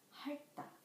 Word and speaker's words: 핥다: When 리을 티귿 becomes the final consonant, the syllable ends with the sound of L and T. For example, 핥다, 핥다.